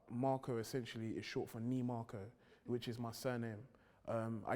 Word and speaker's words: Nimako: day, like Ni Marko, because I was tired of everybody saying it how. Saying it like wrongly. Yeah, like, because like my surname is spelled Nimako, and I had a teacher that used to say Namako.